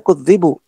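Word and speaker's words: كُذِبُوا: Jadi yang benar bacanya kudzibu.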